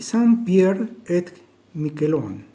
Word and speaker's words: Saint-Pierre-et-Miquelon: Esta señora, Nenette Pepin, nació en la isla de, se pronuncia creo que así, Saint-Pierre-et-Miquelon, territorio francés de ultramar, ubicado en la costa atlántica de Canadá.